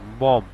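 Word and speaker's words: bomb: তারপর হচ্ছে বিও এম, বম, এখানে বির উচ্চারণটা আসে নাই, শেষের বি উচ্চারণ যেটা ওটার উচ্চারণ আসে নাই।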